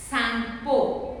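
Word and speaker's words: Tsangpo: So when it flows through that, it is known as Sangpo. T is silent children.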